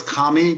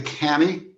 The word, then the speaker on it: Kamhi: Is it Kami or Cammy or how do you pronounce your last name? It originally was Kami, but when I got married, my my wife them wife changed it to Cammy.